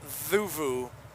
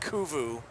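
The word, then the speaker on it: Cuvu: And it's pronounced Zuvu, not Kuvu. I lived in uh a place called Zuvu, not the village, but the Indian side of things.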